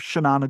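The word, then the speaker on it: Xanana: So if you think of Shannana Guzma X a na the the the former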